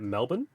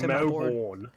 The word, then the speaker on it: Melbourne: you say Americans say where I live we say it Melbourne Melbourne but most most Americans say Melbourne.